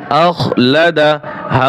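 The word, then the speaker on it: أَخْلَدَهُ: হামজা খ জবর আখ, লাম জবর লা, আখলা দাল জবর দা, আখলাদা হা উল্টা পেশ হু, আখলাদাহু, আখলাদাহু। ওয়াকফ করলে হা উল্টা পেশে টান হবে না, শুধু হা উচ্চারণ হবে।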